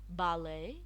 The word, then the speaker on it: ballet: silent T silent T some words in English language we do not pronounce the T in them some words I have listed some common words Castle ballet listen we so often can you see the T it's not pronounced but written Shh silence be silent